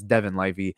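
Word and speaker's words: Devon Levi: since they have uh Devon or Devon Levy or Devin livey I don't know how to pronounce it yeah it's Devin livey so that's a a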